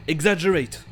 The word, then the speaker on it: exaggerate: Et pour 2 G à la suite, vous trouverez aussi le son J dans certains mots comme exaggerate.